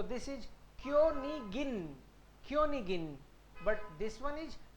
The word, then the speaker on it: Königin: क्योनिगिन, ये आपकी बार इश नहीं है, आई जी लास्ट में आए तो ही इसका मतलब इश है, अदरवाइज तो नॉर्मल जी को गए बोलेंगे। So this is क्योनिगिन, क्योनिगिन, but this one इज क्योनिश, क्योनिश, क्योनिश, क्योनिश।